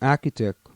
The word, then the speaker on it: architect: designed by the same architect who wants to bring, we normally would say architect. And that's how it's pronounced. It's A-R-C-H-I. That's Archie. T-E-C-T is tech.